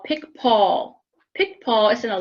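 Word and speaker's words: Picpoul: Pic Paul is a smoother wine, and that is the grape as well, Pic Paul. And it's not the way you think it's spelled.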